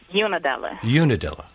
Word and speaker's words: Unadilla: Rotundo, how big is, am I pronouncing it right, Unadilla, Georgia? Unadilla.